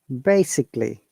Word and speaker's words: basically: you remember that okay and also if that is a l y we do not pronounce a we ignore a for example this word basically basically very good how